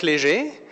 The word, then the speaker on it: Léger: Nobody pronounced my name that well, I'm telling you. Well done. It's good to be here. All protocol observed. My name is Léger, as you pronounce it